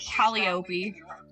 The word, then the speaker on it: Calliope: Calliope, Calliope, Calliope when the author read it, so that's what I'm going. Alright, we'll go with Calliope.